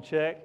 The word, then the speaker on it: Check: My name again is Check. I am in Human Resources Management. My name is pronounced exactly as it's spelled, C-H-E-C-K.